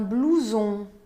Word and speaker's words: blouson: Outro exemplo, un blouson. Blouson. Última sílaba, blouson.